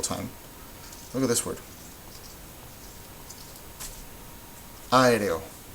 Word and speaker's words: aéreo: Which one is the loudest one? Aéreo. Aéreo. Aéreo.